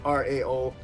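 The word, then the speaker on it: Rao: I think it's R-A-O. It's pronounced Ra anyway. The Kryptonians worship the god Ra.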